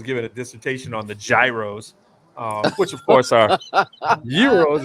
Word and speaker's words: gyro: It's just like gyro is a euro, so you say it like that.